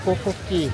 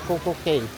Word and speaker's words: CocoCay: Kokoi Ewan ko Kokoi ang pag pronounce nila Kokoi hindi koco k wow swerte nila